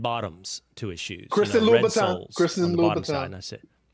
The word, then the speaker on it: Louboutin: Does makes it any better for you that you're wearing men's Christian Louboutins.